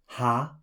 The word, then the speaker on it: H: Next comes, H für Haus. let's watch that. It sounds simply like the English exclamation ha.